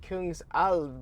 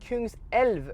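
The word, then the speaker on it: Kungälv: wrong, I think, because I was saying like Kungsalv, but it's Kungselv, right? Kungselv, King's River.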